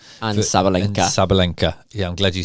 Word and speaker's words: Sabalenka: Sabalinka.